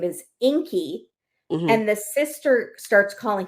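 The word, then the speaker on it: Ingi: her boyfriend's name is Inky and the sister starts calling him Ingy because it's spelled i n GI but the G is pronounced like a k and so Fanny the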